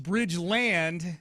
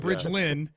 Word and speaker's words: Bridgeland: Toro district, said that it's pronounced Bridgeland, L D, not Bridgelind.